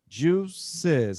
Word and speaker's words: juices: Okay, we have to have an extra syllable there. We have to make that extra sound. Juices.